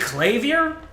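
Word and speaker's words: Klavier: Okay, I'm saying clay here like claymore, but I will I will um I will defer to zapix.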